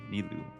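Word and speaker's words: Nilou: a friends with Neu that's how you say her name Neu yes that's her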